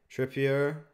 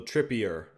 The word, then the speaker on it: Trippier: The English way of saying it is right. Okay, so Trippier. Go with the French pronunciation. Trippier.